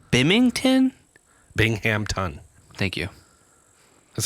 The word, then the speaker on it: Binghamton: Bingington. Bingmpington. Bingington. Bing Bingham. Bingham. You're close. Yeah. I'm like, is he saying Bington? Binghamton.